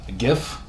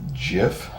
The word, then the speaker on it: GIF: The guy that created the graphic interchange format says it's actually GIF, but the thing is, he's like I'll always pronounce it as GIF. But either pronunciation is acceptable.